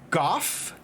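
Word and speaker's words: Gough: is it is um g-o-u-g-h pronounced goff like uh like g-o-f-f it's actually not unless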